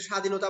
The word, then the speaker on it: স্বাধীনতা: আমাদের লিখতে হবে তাহলে স্বাধীনতা বানানে বফলা উচ্চারণ হচ্ছে না সরস্বতী বানানে উচ্চারণ হচ্ছে না কেন হচ্ছে না কারণ শব্দের প্রথমে বফলা উচ্চারণ হয় না কেমন সাধারণত বফলার উচ্চারণ